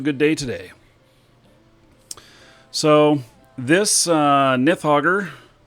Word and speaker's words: Nidhoggur: And so I've got Nidhoggur here, or Nidhoggur, as I've been corrected in saying, even though it doesn't have a TH in it. The D is pronounced TH, apparently.